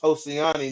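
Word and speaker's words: Josiane: I don't know and Josie and Nunez excuse me we saying that name wrong too it's it's hostiani Nunez josiani Nunez um this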